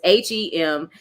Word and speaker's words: hematite: I'm gonna try to say it him it's h-e-m-a-t-i-t-e him I don't know hematite there we go